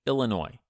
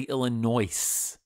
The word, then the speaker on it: Illinois: why don't we say Illinois because the French hate to pronounce the last letter or sometimes the last few letters of any word that's just their thing